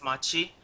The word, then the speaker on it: Machi: So first and foremost, Reasony, who are Maki Esports, and kind of what is your history with the GPL? So basically, you actually pronounce it as Machi, weirdly.